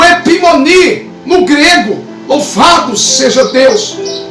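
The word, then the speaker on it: ὑπομονή: Porque a palavra, irmãos, perseverança, no grego, você pronuncia epimoni, ok?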